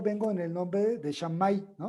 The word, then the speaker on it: Shammai: Uno se llama Shammai, se escribe S-H-A-M-M-A-I.